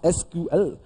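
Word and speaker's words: SQL: उसे करता हूं लैंग्वेज ट्रांसफर प्रोनाउंस एसक्यूएल ठीक एसक्यूएल इस यूज्ड तू कम्युनिकेट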